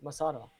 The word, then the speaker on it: Massara: uh how do you say Massara, right? Yes.